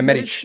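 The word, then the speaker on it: Medić: We had Medich? Is that how you say his name? Yeah, Medich.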